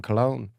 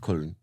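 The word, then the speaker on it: Köln: I thought you were talking about the band Can from Cologne. No, Damn never. it. It's pronounced Kuln.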